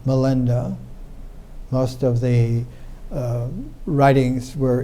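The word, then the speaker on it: Milinda: melenda which is a a way in which the indians pronounced menander melenda most of the writings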